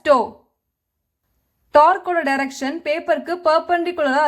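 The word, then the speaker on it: tau: It is pronounced as toe.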